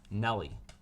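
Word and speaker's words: Nelle: than be misidentified as Nellie. The correct way to pronounce it is Nell.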